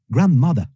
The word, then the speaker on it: grandmother: Aussi, grandmother, grandmother, grandmother. Les Britanniques souvent ne prononcent pas le R à la fin et disent mother, contrairement aux Américains.